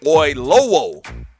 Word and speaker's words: Oyelowo: Let me try to pronounce that one more time. David Oyelowo.